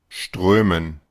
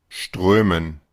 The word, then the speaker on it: strömen: tenemos un símbolo especial y es que notarán que esa O con lo que vendría siendo la diéresis, esta de acá, se vuelve una especie como de O con una tachadura. Eso es una vocal, ¿verdad? Es una vocal del alfabeto fonético internacional, que es el recurso que vamos a estar utilizando para las clases. Esta se le conoce como una E cerrada redonda.